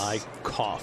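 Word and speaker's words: Eickhoff: out today Jared iov's Twitter handle is EI i c h o u g h oh nice I cough yes to pronounce his name yes 2 two coming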